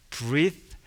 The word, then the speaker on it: breathe: 장음이 앞에 있는 동사는 장음입니다. 명사는 단음이에요. breathe, his last breath 이렇게 얘기하는 거예요.